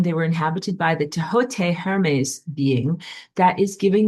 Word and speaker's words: Thoth: First, you wonder when I say that Egyptian name, Thoth is not pronounced Thoth, it is pronounced Tehote.